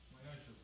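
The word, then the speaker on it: Ma'aser: Means 10th in the Hebrew, and it's pronounced Ma'asher.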